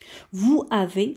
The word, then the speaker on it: vous avez: On va faire la même opération, c'est-à-dire qu'ici, il y a le S qui se trouve entre la voyelle U et la voyelle A. Donc, on va le prononcer ZE. Et on fait la liaison des syllabes. Vous avez. On va lire vous avez.